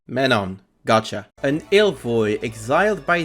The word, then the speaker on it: Mm'menon: An Ilvoy named Menon. Menon.